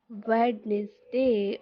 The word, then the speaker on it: Wednesday: It is Wednesday or Wednesday. The quick trick is you remove the D sound and you add the Z sound here and it becomes Wednesday, not Wednesday.